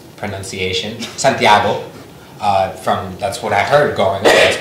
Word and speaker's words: Santiago: I start off with the correct pronunciation, Santiago.